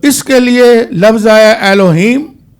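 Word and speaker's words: Elohim: इब्रानी का जो मत है खुदा ने कहा उसके लिए एलोहीम का लफ्ज है।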